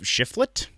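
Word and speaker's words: Shiflett: then they picked up chris schiff schifflett i think is how you say that um and then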